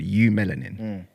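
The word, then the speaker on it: eumelanin: So, for example, the um the scientific term for the melanin that we have as black people is called u melanin. It's spelled eu melanin.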